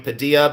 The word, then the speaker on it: Padilla: It's pronounced William Padilla, but I believe it's spelled P A D I L L A.